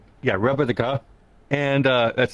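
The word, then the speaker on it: rebetika: It was called repetica. Yeah, repetica. And that's spelled R-E-B-E-T-I-K-A, which is a style of Greek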